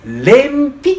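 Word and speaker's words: 連比: 人かいてレーンぴと読みますいいかなこう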